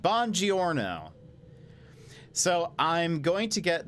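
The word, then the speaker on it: buongiorno: shake down 1979 uh hello or should I say bonjourno still haven't perfected my pronunciation we'll say she says it bon giorno so I'm going to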